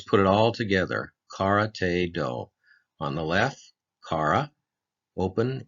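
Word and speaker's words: 道: Now, let's look at the last kanji part, which is do. In English, it sounds like do.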